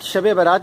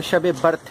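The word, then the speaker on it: شب برأت: حال چال جانیے۔ ناظرین، ورڈ شب برات جو میں نے یوز کیا ہے یہ غلط العام ہے۔ صحیح جو اس کا تلفظ ہے وہ شب برت ہے۔ شب برت کا مطلب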